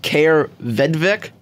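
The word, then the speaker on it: Kaare Vedvik: I believe his name is pronounced Kaer Vedvik. That is correct.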